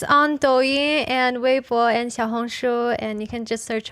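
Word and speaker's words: 小红书: Xiaohongshu. Yes. That's how you pronounce it.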